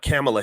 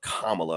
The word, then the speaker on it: Kamala: tell you exactly why C camela Harris Kamala Kamala I'm gonna pronounce it right uh why kamla Harris